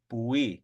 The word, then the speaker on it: pui: Like I know in Pyramid Lake, for green, it is just simply pui without the H. Pui, pui. But blue would be with the H.